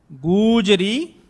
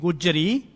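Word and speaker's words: ਗੂਜਰੀ: it twice like here gujari okay some people given this one they pronounce wrongly they go and read gujjari meaning chains gujari refers to the name of the ragni gujari refers to the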